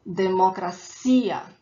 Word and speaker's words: democracia: elsewhere on the world the emphasis das Trombetas syllable is the last One Step it up and go a democracia democracia a academia academia a delegacia delegacia a